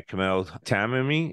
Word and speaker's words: Kamel Tamimi: And I am glad to be joined here by Kamel Tamimi. Is that how I'm pronouncing that right, Kamel? Yeah.